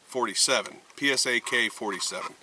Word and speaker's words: PSAK-47: I'm sorry, the PSA-47. PSAK-47. That's how they say it.